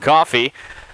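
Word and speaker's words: Cioffi: So 0-2 count here to Caden Coffey, the second baseman for the Golden Lions. As Zach said, last name spelled C-I-O-F-F-I, but pronounced Coffey.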